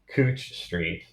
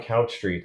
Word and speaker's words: Couch Street: I mean, So I lived on Cooch Street in Southeast Portland. And my first challenge is I lived on a street called Couch Street. Everyone pronounced Cooch.